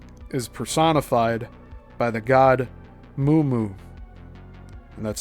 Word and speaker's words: Mummu: In the Sumerian and Babylonian creation accounts, the firmament is personified by the god Mummu, and that's spelled M-U-M-M-U, who is the rising mist between